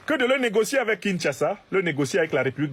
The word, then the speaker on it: Kinshasa: L'Union européenne en signant cet accord privilégié avec le Rwanda de Kagame a clairement dit à Kinshasa, et on me dit qu'il faut prononcer Kinshasa, a clairement dit à